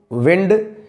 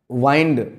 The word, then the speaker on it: WIND: प्यारे साथियों, अगर कोई आपको WIND नाम का शब्द दे और इसको प्रोनाउंस करने को बोले तो शायद आप इसको विंड या वाइंड पढ़ेंगे।